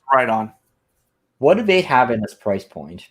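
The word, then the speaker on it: Riton: Ron how do you pronounce it WR on or right on WR on right it's right on what do they have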